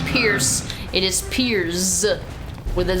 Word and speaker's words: Piers: Pierce. I keep calling him Pierce. His name is not Pierce. It is Pierce with a Z. Well, with an S, but it's pronounced like a Z.